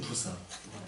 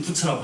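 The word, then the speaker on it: Bucer: 마틴 부서. 어떤 책에서 마틴 부처라고 합니다. 부처 말 듣거든요, 우리가. 그런데 C 발음을 처로 하기도 하고 C 발음하기도 해요. 마틴 부서, 마틴 부처.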